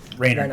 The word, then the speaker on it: Reiner: Rainer. Reinhardt. Rainer. Rainer.